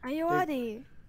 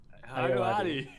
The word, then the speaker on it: Ayoade: David, how do you pronounce his name? Ayoade. Ayoade.